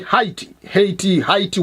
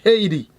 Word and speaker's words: Haiti: From primary school until I come to America, the country, we say Haiti, whatever you call it, that country. But when American is talking, they pronounce SD, Haiti.